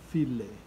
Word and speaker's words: φίλε: You see the accent is on the I. Φίλε.